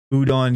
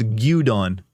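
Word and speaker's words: 牛丼: Udon. Yeah, it's not udon. It's gudon. Look up. Look up Japanese beef bowl. It's gudon.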